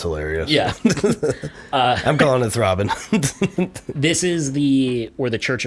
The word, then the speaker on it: Thraben: And if you pronounce it like that, it comes out as Thraben.